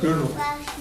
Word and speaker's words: Gödel: And the interesting thing is that a man named Kurt Gödel, it's pronounced like Girdle if you don't speak your German.